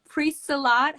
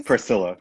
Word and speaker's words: Priscilla: Thanks for watching Marta Dizzle yes, and uh, Pre-Salat. How do you say it? it's Priscilla. Priscilla. Oh, I'm like Pre-Salat, like Priscilla, yeah, oh god.